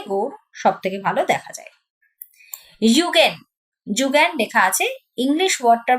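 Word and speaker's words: Zeugen: যেমন সাহারা মরুভূমিতে গৌর সবথেকে ভালো দেখা যায় ইউগেন যুগেন লেখা আছে ইংলিশ ওয়ার্ডটার প্রোনাউন্সিয়েশন হচ্ছে ইউগেন কঠিন এবং কোমল শিলা সমান্তরাল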